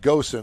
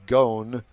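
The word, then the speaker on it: Ghosn: with former chairman Carlos I call him Goen I think it's pronounced gone and moan about who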